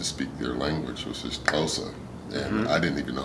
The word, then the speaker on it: Xhosa: I got there, because it's spelled with an X now. Xhosa. Yeah, with an exclamation point. Then when I learned that you had to have that click, and you had to